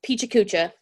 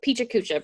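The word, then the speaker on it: PechaKucha: we're gonna talk about I'm gonna go with peachy Kucha okay that's gonna be the pronunciation for this I've listened to a few different pronunciations um but we're gonna go with PG Kucha because that's fun to say so peachy Kucha is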